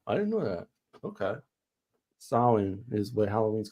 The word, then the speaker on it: Samhain: Well, it's pronounced Samhain, which is like the original Halloween that was started in Ireland. So that's what it's called in Ireland? Yeah. Wow. I didn't know that. Okay. Samhain is what Halloween's called in Ireland.